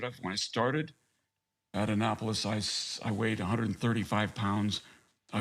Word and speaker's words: Annapolis: Annapolis, yeah. Annapolis. Oh, it's spelled Annapolis.